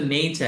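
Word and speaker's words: nature: দুইটা পাব একটা হচ্ছে নেচার এরা তো আর উচ্চারণ করে না কি বলে দেখেন নেচার উচ্চারণ শিখব কিভাবে আজকে যখন নেচার শিখে গেছেন আপনি কিন্তু চার বলবেন না এভাবে প্রত্যেকটা ধরে ধরে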